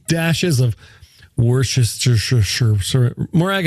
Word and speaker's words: Worcestershire: You're going to need 3 dashes of Worcestershire. Morag, how do you say this word? Worcestershire.